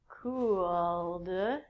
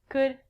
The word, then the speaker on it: could: All of these L's are silent. So it sounds like should, could, and the thing that we get from trees, would.